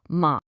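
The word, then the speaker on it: 麻: That upward inflection, that's it. That's the second tone. Try it with the syllable ma. And just like that, with that simple rising tone, the meaning is totally different. Ma is not mother. It's hemp.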